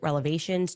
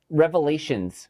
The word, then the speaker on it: revelations: I have so many explosive relevations to share with you. Oh, wait, wait, no. Uh it's revelations.